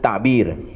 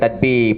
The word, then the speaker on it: ta'bir: Di huraian mimpi ini jangan kata tafsir, istilah yang betulnya Allah ajar kita adalah ta'bir. Ta'bir ru'ya. Ini nantilah insya-Allah kita akan jumpa perkataan ta'bir. Ejaan Jawanya ta'ain. Bukan tadbir, pentadbiran tu.